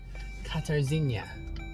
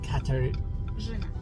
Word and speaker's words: Catajena: So once more, Catajena. Jena. Catajena. Did I say it right? Catajena? You don't need to say R. It's not Catajena, it's Catajena.